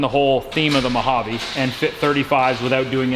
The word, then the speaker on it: Mojave: mojave goodies i'm sorry what's it called mojave you gotta say it like that what's up guys